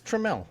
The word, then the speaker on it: Tramell: It's Tramell. Whatever. How am I supposed to know it's pronounced Trammell?